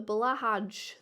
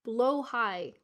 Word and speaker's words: Blahaj: Someone says it's blue high. It's blue high. Blow high. People say it's pronounced blow high.